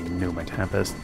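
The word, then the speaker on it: Pneuma Tempest: for Num my Tempest I suppose it should be just be num Tempest silent p and all that after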